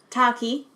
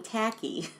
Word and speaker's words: Taki: Taki. Earlier I was saying Tacky.